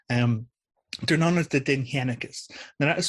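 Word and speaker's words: Dindshenchas: Um, they're known as the denhekus. Now that is spelled d i n d h e n cas, but it's pronounced denhekus.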